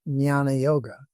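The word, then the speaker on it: jnana yoga: little till day over the end so it's pronounced nana yoga nana because this is what this is what Barrett has nana yoga Everything is analyzed.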